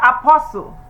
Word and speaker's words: apostle: not the second word the t is silent so we have Apostle the third one honest